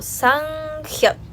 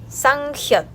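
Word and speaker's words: 쌍지읒: Este se pronuncia como Sanghyot, Sanghyot, o sea, doble J.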